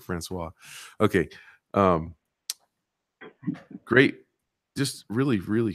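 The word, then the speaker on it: François: a French word so I thought Francois was Frank Weiss and I I just could not ever see that word and and pronounce it Francois okay great just really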